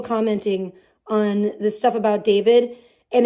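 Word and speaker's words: D4vd: Go to his channel, D4 VD, that's how it's spelled, but his name is David.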